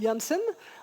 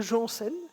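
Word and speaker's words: Janssen: Alors, si on le prononce à la belle, c'est Jules Jansen. À la française, c'est Jules Jensen.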